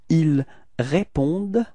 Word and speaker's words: ils répondent: So it's actually a common mistake that usually students tend to pronounce this E-N-T, so they want to pronounce it like en, okay, but then keep in mind that for verbs we don't pronounce them, so E-N-T is actually not pronounced, it's only répondent. Okay, at the end it's the sound of the d.